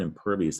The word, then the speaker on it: impervious: now and per vs that eye is making a long e sound right need to know that for spelling e us two syllables you see it in